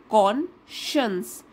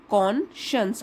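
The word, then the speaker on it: conscience: not kill your कॉन्शियस इसको बोलेंगे कॉन्शियस साइंस वाली स्पेलिंग है देखिए एस सी आई ई एन सी ई तो इसको फिर भी कैसे बोलते हैं कॉशंस अंतरात्मा की आवाज जो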